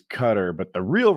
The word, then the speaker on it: Qatar: He did a big thing about guitar like eight months ago and uh he's like Americans say Qar, which is wrong. The the right version is cutter, but the real right